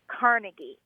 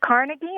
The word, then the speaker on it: Carnegie: now living in California and it's about the pronunciation of the word Carnegie so growing up in New York you know